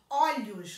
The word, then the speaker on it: olhos: na pronúncia dessas palavras olho no singular e pronuncio com o fechado olhos no plural e pronuncio com o aberto nesse caso quando eu